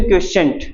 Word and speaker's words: quotient: निकालनी होगी तो उसको बोलते हैं हम रिएक्शन क्वोशिएंट, इसको Q से डिफाइन करते हैं, Q, ठीक है।